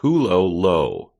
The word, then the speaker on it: Hulohot: It's pronounced Hulohot. Yeah, I mean I would just say Hulohot.